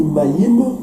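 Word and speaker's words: מים: Et vous avez aussi le mot maï. Et vous voyez sur l'écran, c'est écrit maïm. Mais en fait, ça se prononce maï.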